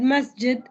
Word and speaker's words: masjid: word masjid masjid and in egyptian arabic we we don't we don't have the ability to pronounce the j sound which in modern standard arabic must get the word musket it's supposed to be said like that masjid what we say the